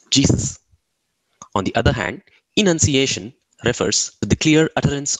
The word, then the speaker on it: enunciation: One way to keep the words apart is to pronounce the A in annunciation as a schwa sound or a sound, and the E in the enunciation as a long E sound, as in he.